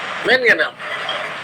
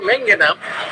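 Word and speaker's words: Manganum: ম্যানগানাম, এটা আমার আমার সিলেটের গুরু খুব ব্যবহার করতেন, ম্যানগানাম উচ্চারণটা ম্যাঙ্গেনাম, উনি বলতেন ম্যানগেনাম। ওনার থেকে আমারও এই উচ্চারণ আমি এইভাবে করি, ম্যানগেনাম, আসলে হবে ম্যাঙ্গেনাম। মস্কাস, মস্কাসটাও অনেক হিস্ট্রিক রুগীতে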